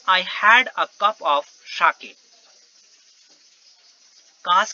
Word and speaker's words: sake: had a cup of sake. काश कि मेरे पास एक कप शाके होता. और शाके means a popular Japanese drink. Sha is pronounced like fa in father and K rhymes with way, यानी कि फाके.